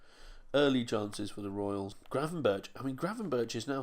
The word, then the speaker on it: Gravenberch: Gravenberch.